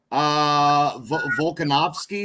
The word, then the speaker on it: Volkanovski: Volkanovski, is that how you pronounce it?